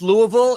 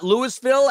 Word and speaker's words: Louisville: And yes, it's pronounced Louisville. It's not Lewisville, as Arkansas is not our Kansas.